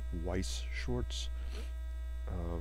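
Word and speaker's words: Weiß Schwarz: shorts or white shorts or however you may wish to pronounce that um i think officially the pronunciation is weiss shorts because the funny looking b is actually supposed to be a german character and these are supposed to be german words so it's supposed to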